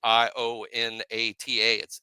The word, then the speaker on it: Ionata: So people ought to know with that spelling, Ionata. It is Joe Ionata.